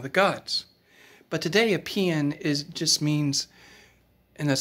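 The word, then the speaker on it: paean: of one of the gods but today a pn is just means and that's spelled p-a-e-a-n is just a poem of high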